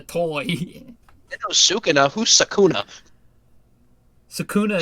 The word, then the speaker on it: Sukuna: know sua who's sakuna sakuna is how you actually pronounce it that's yeah that's actually how you pronounce it but we just say it differently all right round two